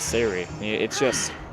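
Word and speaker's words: Say'ri: Let's see, we're going to have Sari, excuse me. Sari is the official pronunciation.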